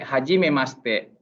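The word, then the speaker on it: はじめまして: Kalau ada tulisan bahasa Jepang, kalau shite ini masite ini bacanya maste, hajime maste.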